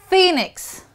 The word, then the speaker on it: Phoenix: Moving on to the next alphabet, PH becomes F. Philip. Philip. You actually would say F. Philip. Phoenix. Phoenix. And finally, Philadelphia. Philadelphia is placed in United States of America. So it's Philip, Phoenix, Philadelphia. Philadelphia.